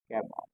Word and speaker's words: Gamow: Gamow. This pronunciation is Gamow, okay?